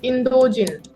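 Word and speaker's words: インド人: to say Indian so Indian in Japanese is indogen okay indogen can you please say indogen indogen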